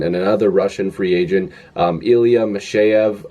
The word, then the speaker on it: Ilya Mikheyev: I believe that's how you say it. Again, it doesn't look like that's how you pronounce it. It almost looks like Ilya Mikheyev or Mikheyev, but apparently it's Ilya Mikheyev.